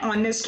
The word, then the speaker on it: honest: Now you will say that it is beginning with H, but H is silent here. Therefore, it will be an R, an honest man.